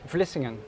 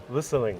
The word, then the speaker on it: Vlissingen: Vlissingen. Vlissingen.